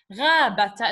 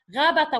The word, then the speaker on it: غابة: Here I don't say غابة because it's not at the end. غابتا. It has to be pronounced. غابتا, which is a forest.